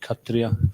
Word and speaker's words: Kshatriya: And Prabhupada, when he pronounced like this, he would actually, the S was silent. Like he'd say Katriya for Kshatriya.